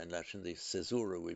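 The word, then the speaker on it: caesura: Remember, however, um that in at a break in a line, the cesura, the kaisura in Latin, the cesura we pronounced in English, which is kind of a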